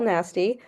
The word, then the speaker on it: Nasti: My name is Nasty. Uh yes, it is pronounced like that and yes, you are encouraged to laugh.